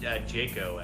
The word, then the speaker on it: Jaco: How do you pronounce it? Jaco, actually. Jaco.